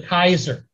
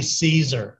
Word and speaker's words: Caesar: a family feud now his title was the Kaiser and if you know your Latin in Latin y'all they don't say Caesar it's like Kaiser okay and that's where that